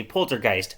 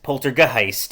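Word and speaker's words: Polter(g)heist: t so i say poltergeist poltergeist like it doesn't matter um it's meant to look like the word poltergeist but with the word heist at the end if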